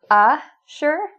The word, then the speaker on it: assure: So notice the difference in pronunciation. A-sure with an A sound and insure with a in sound.